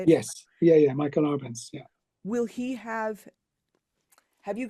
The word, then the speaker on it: Michael Arbenz: Michael Arbenz.